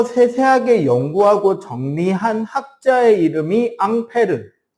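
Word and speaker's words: Ampère: 그거를 좀 더 세세하게 연구하고 정리한 학자의 이름이 앙페르. 앙페르의 미국식 발음이 암페어가 되는 거죠.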